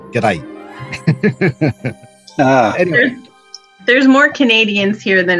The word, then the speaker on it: g'day: I'm in Melbourne and it's not good day it's g'day there's more Canadians here